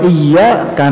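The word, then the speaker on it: إياك: iyyaka nasta'in itu kalimat ianya kadang tidak ditasydid oleh sebahagian orang Hai tidak sah bacaannya bahkan sebahagian ulama mengatakan jika tahu artinya dan sengaja membacanya dengan tidak menetas bisa kafir Kenapa karena Iya Kak itu cahaya matahari artinya kalau kita membaca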